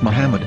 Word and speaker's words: Muhammad: According to Ben Yehuda's Hebrew English dictionary, it is correctly pronounced as Muhammad, not Mammad.